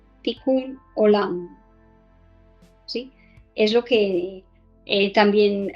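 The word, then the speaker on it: תיקון עולם: hebreo pero también en español se llama el tikún olam en hebreo se escribe así esto lo voy a poner aquí como se pronuncia ticul hola si es lo que también a muchos hablan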